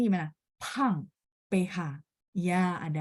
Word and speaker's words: 胖: Kalau pang, P baca PH. Dan teman-teman ingat, oh iya ya, P itu dikotakin yang di menurun ke bawah sama Laoshi. Berarti bacanya harus ada angin.